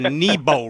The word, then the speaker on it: Nebo: So it's called the Nebo rig is the correct way to pronounce it.